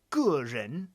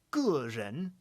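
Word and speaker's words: 个人: 2-character word, for example, 个人, then in that case you're going to have G. The full diphthong 4th tone E. 个人, and that means individual.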